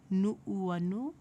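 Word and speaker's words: Nuʻuanu: go through pronunciation first, remembering that Okina is going to break that sound. So we're going to say Uanani o Nu'uanu.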